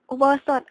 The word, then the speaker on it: อุโบสถ: 3 อุโบสถ 3 อุโบสถ อุโบสถ อ่าน ว่า ออ อุ อู่ บ ป โอ โบ ส โอะ ด สด ถือ เป็น อาคาร ที่